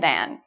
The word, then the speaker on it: than: pronunciation between then and than. Okay, so then sounds like Ken. You know, Ken and Barbie? Ken. It rhymes with Ken, then. Than is more like can.